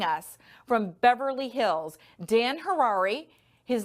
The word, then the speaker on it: Harary: from beverly hills dan hirari his name sounds like rhymes with ferrari hi dan that's how